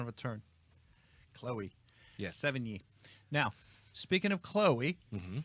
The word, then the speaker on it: Sevigny: Sevigny. Ziggy, just So- go ahead and say how to say her name. 70. It's like 70, but knee instead of T.